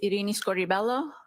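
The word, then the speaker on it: Irini Scordibello: My name is Iini Scorelloo. That's spelled I R I N I S C O R D I B E L L O.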